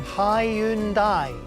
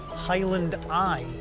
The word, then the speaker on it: Hyundai: Hyundai, not Highland Eye. Oh, it's Hyundai, by the way.